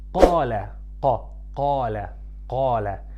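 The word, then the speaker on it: قال: For example, when I say qala, qa, qala, qala, it's not kala, it's qa, qa, from deep in your throat.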